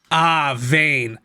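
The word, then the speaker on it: Wein: Because I think it's one of those German W's. Vane. I mean, in the Japanese, they break it up, so it's Vane.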